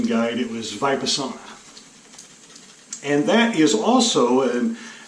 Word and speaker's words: Vipassana: know if I get it right or not by vibe asana like the sauna I wanted to save it the sauna but I think looks on the YouTube pronunciation guide it was VIPRE summer and that is also an Eastern meditation form